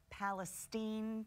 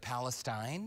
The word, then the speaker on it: Palestine: one on there is Palestine Texas instead of Palestine but it's spelled like you Celestine right yeah New Braunfels